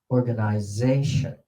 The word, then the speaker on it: organization: Organization. Organization. How many syllables? Organization. 5. On which stress? Which syllable is stressed the most? Z. Z. Z.